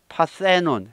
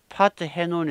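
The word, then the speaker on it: Parthenon: 하지만 여기서 는 " 파텐온 " 이라 고 발음 하며 "th" 발음 이 들어갑니다 . "th" 소리 가 나면 T 와 H 를 분리 해서 는 안 됩니다 . 그들 은 분리 되어서 는 안 됩니다 . 따라서 여기 에 "part" 축약형 을 사용 하면 발음 이 망가집니다 . 네 , "part-henon" 이 됩니다 . 이상 하게 들리네 요 .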